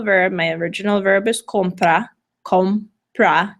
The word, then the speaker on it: compra: my original verbiage kompa compra two syllables the second-to-last sellable 0 so the 0 gets the accent compra may lo's comprame